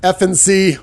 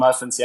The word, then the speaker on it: Efenecy: But Efenecy, when you got kids, all the teachers are calling. Hey, how do we pronounce this? And I said, it's pretty easy, like 3 letters, an FNC.